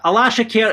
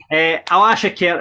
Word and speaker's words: Alashkert: Alashkert is how we decide to go with it.